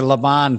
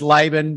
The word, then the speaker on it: Laban: It's the European version that you're going with, the Laban. So, but technically my given name is Laban, but as long as you don't call me late for dinner, I'm happy.